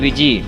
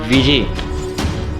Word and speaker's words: Ouija: इसका नाम जो है वो OUIJA विजी। इसका प्रोनाउंसिएशन अलग है लेकिन यही है, विजी।